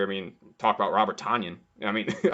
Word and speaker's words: Tonyan: Tonyan. Yes, Rhymes with Funyun.